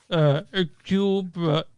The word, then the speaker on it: Hercule: Directed, this stars the amazing Kenneth Branaugh is Hercule Poirot. The H is silent.